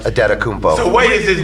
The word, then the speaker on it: Antetokounmpo: This year is Stakostas Antetokounmpo, which I still believe is pronounced Adetokounmpo.